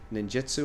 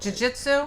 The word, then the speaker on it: jiu-jitsu: And now he's a n How do you say the ninjitsu? I don't say it right. Jiu-jitsu.